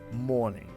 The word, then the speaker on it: morning: En effet, le O est tellement grave qu'il fait de l'ombre au R qui suit et qui du coup devient inaudible, invisible, on dit que la lettre est muette.